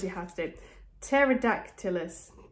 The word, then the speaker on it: Pterodactylus: Pterodactylus. Oh, wow, that's spelled so differently from how you pronounce it. Pterodactylus.